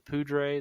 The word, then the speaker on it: Poudre: We went to the, I don't know how to pronounce the name of the river, the Poudre, the Poudre. Yeah, the Poudre.